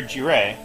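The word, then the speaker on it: Jirae: we see any other jiray sorry I used to call them Jireh before I actually knew how to pronounce Japanese words correctly and old habits die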